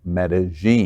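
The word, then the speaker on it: Medellín: lgbtq plus Colombian stars for Medellin and it's pronounced Medellin thank you I was in Medellin foreign didn't work that way it was the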